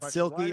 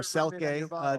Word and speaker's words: Silkie: So the really easy answer is that Silkie or Selke, depending on where you are, how it's pronounced, is the loose term for mermaid in Irish.